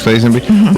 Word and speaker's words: Lazenby: That includes, let's see, Sean Connery, George Lazenby, is that how you say his name? Yes. George Lazenby.